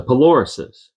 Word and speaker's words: Polarises: the 40mm gun directors the Polarises yes that's how you say it a set of big